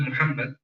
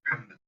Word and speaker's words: Muhammad: And the reason for that, when you pronounce the word Muhammad in the Shahada, in the Adhan, it came out sometimes as a ha. It was substituted for a ha.